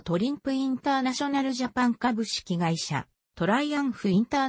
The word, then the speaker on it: Triumph: を取り扱っているトライアンフは英語の発音ではトライアンフドイツ語の発音では取りうん札が日本語での表記としてはトリンプ自身が称しているトリンプが正式なものである 1886 年 johann gottfried